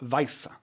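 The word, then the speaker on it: Wiese: Am I pronouncing his name right? Yeah. Weisse, yeah.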